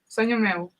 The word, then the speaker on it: Sonho Meu: Now, tell us, the next tune is it Sonho Meu? I'm not pronouncing this correctly. Sonho Meu? Sonho Meu. Meu, okay.